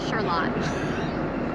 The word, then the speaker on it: Charlotte: Charlotte. Charlotte? It's spelled like Charlotte, like Yes. North Carolina, but we say it weird here.